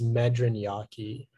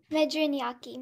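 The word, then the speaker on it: medriñaque: all right uh your word is medran yaki medraniaki may i have the definition please it's a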